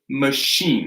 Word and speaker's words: machine: Machine, that's a hard SH.